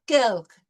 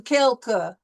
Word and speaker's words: quelque: À la fin de, and moins quelques. We don't really put a lot of heavy weight on the second syllable. We don't do quelque. It's quelque, à moins quelque, okay?